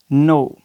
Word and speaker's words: know: अगर के के बाद एन आ जाए, अगर के के बाद एन आ जाए तो के खामोश हो जाएगा, साइलेंट हो जाएगा। मिसाल के तौर पे फॉर एग्ज़ाम्पल हम यहाँ पे लिखते हैं नो, KNOW, नो।